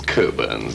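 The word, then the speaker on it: Cockburn's: bones not quite it's Coburn's actually we don't pronounce the CK cool burns so that is a clue no that's a clock so sock Coburn's special reserve a very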